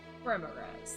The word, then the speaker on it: Remorhaz: How do you pronounce it? Remorhaz. Remorhaz, there you go.